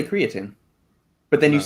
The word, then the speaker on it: creatine: Do you say creatine or creatine? Creatine. Everyone knows that. That's normal. Creatine. Well, some people say creatine, but then you No.